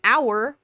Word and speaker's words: hour: dictates the indefinite article use a before words where you pronounce the other or the letter h such as a hat a house or a happy cat use and before any words you don't pronounce the letter h such as an herb or an hour or an honorable man so historical you definitely